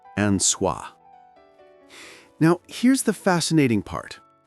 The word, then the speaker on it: Anwa: And he's praying not to Christ, not to Allah, but to the almighty creator, Anwa, pronounced anah.